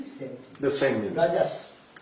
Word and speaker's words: Raja: In Bengali sometimes they put O. Raja, Rajo. Or that is more Bengali pronunciation like that.